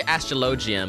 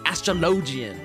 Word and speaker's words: Astrologian: do you pronounce astrologian i say astrology but that i only said it like that because my friends corrected me and they like yelled at me they're like ron no it's astrologian you you stinky fool